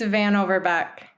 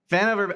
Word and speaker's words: Van Overbeck: It's Van Overbeck. Van Overbeck. I totally would have butchered that. I played that exactly the right way. Intimidating looks. I think everyone sees a lot of letters and they're like Van blah blah blah, but it's pretty phonetic.